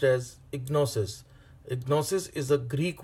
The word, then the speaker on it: gnosis: is G n o sis and it is pronounced as ignores it gnosis is a Greek word which means